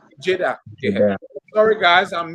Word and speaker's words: Jaiden: how you pronounce it my last name is j-a-i-d-a-a Jada Jada yeah sorry guys I'm